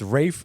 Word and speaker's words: Ralph: It's Rafe Fiennes, but it's spelled Ralph, Is it? huh? Yeah, I didn't know that. I thought his name was Ralph Fiennes. It's Ralph Fiennes. It's Rafe Fiennes is how you is Oh.